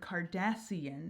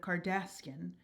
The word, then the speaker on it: Cardassian: So what we're gonna do here is actually extend the word Cardassian instead of Cardassian to 4 syllables.